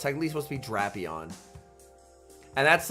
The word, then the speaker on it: Drapion: it is technically pronounced draon like it it's supposed to be a play on Dracula because it's like a vampire scorpion so it's technically supposed to be draon and that's like if